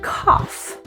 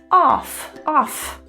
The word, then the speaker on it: cough: And cough, OUGH. Off.